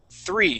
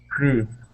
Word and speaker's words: three: 1763 all right now when we pronounce that three okay it has a th sound three try that please three three three okay almost you're very close now that th you're going to stick your tongue between your top and